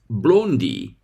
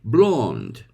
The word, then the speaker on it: blonde: e at the end b l o n d e but even Brits don't pronounce it Blondie they say blonde I'll repeat American English blonde British English blonde Turkish English Blondie it must be cold